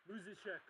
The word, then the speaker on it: Musichek: And how do I pronounce your last name? Musichek. Musichek is the pronunciation.